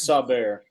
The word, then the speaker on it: Saubert: I mean, everyone knows that I may be pronounced Saber. I mean, it's Saber. I mean, let's just call the proper name.